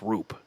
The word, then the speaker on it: Roop: No, it's Rupp. Baseball references tell me it's Roop. Is it really? I've been saying his name wrong all season then. R-O-O-P, Roop.